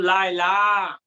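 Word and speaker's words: ليلى: মধ্যে ডায়লগ ইয়া সালমা এই যে লায়লা এবং সালমা শেষে নোক্তা ছাড়া ইয়া আছে এটাকে বলে আলিফ মাকসুরা এটা উচ্চারণ ইয়ার মতো উচ্চারণ হয় না আলিফের মতো উচ্চারণ হয় যেমন লায়লা সালমা ইয়া সালমা আফি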